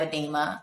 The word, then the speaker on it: edema: And I still have edema. I still have all of those things. Did I say that right? Edema? Yes, you said it right.